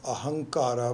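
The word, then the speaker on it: ahaṃkāra: calls this a hunk Ora even though is pronounced as a hunk ARRA but it means an M rather than an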